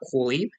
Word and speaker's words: Kohli: I think the pronunciation is Kohli. You kind of ignore the H.